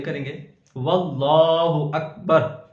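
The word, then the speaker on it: وَاللّٰهُ: کی ہجے کریں گے۔ واللہ اکبر، واو لام زبر ول، لام کھڑا زبر لا، اس اسم جلالت کے لام کو موٹا پڑھیں گے اور لام پر کھڑی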